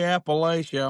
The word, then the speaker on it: Appalachia: It's a is um if you say Appalachia, I'm going to throw an apple at you.